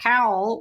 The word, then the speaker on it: Cowell: And then we should mention that the new mayor of Raleigh, Janet Cowell, which is actually spelled like Falwell, you pronounce it different with a different first letter.